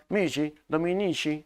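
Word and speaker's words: missi dominici: Para eso, Carlomagno tiene, pues, sus inspectores reales, llamados los missi, los missi, los misi dominici. Aunque la pronunciación es mishi dominici, de esa forma, muchachos, ¿ya?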